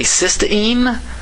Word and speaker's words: cystine: uh just an i i frankly don't know if i can honestly pronounce these two words differently i've heard some people say cystine and cysteine i don't know that's just too subtle for me to be able to figure out maybe you guys